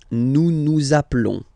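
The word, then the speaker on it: appelons: Zaplon zaplon. Okay. Final s doesn't exist.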